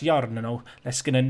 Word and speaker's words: Jarno Leskinen: I think that's Jarno Leskinen, like you roll the R in Finnish.